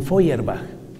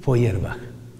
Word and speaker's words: Feuerbach: Piense en la agresividad de un Marx, de un Feuerbach.